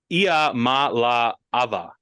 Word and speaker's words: Iamaleava: I probably just botched it there, but Nico Iamaleava. That's how you pronounce his last name, because we all avoided it.